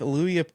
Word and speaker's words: Luria: If you think about a fishing lure, that's how you Oh, pronounce Luria.